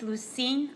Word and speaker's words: Lusine: and you just state your name and then spell it for me please my name is lucine l-u-s-i-n-e you guys hearing her okay